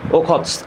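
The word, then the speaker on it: Охотск: এই যে সি অফ ওখতস্ক হ্যাঁ বা এটাকে আমরা আসলে একসাথে যদি উচ্চারণ করি তাহলে ওখস্ক ঠিক আছে তাহলে এটার অ্যানসার কি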